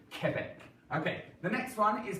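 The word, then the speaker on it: Québec: coming off of it it's just like a k so it's just now so we don't say Quebec like we would in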